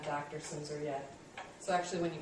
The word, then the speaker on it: Silmser: my name um it's simor on the last name if you care um it's spelled kind of strangely and yeah that L is silent it really throws people um but Lisa is